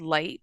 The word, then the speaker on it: Ly: The village is called Light, but it's not spelled Light. Mm-hmm. Um, it's spelled like Ly.